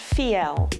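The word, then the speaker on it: Fiell: this is Charlotte vo I ll and it's pronounced feel she's a leading expert on design and has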